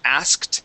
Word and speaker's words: asked: Because in most cases, when an American says this word, we don't say asked and pronounce that K and the T. We say asked.